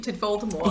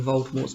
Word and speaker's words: Voldemort: himself up by imagining voldemort's triumph so can i just say some people pronounce voldemort with the t and some without and the friendship would be without yeah it really makes